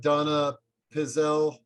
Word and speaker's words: donepezil: Should Donna, how do you pronounce the drug? Donepezil?